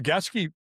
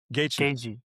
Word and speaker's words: Gaethje: And then And then the Gaskey How's he say How do you say his name? Gaethje.